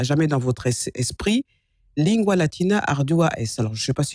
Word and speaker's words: lingua: Pour lingua, normalement en français on dirait linga, mais le GU se prononce OU. Oui. G-U-A, lingua, aussi bien en latin qu'en kikongo ou en lingala.